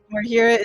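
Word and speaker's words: Marhira: DC is low uh natural 20 it's marir marira is the desert region directly above aelion which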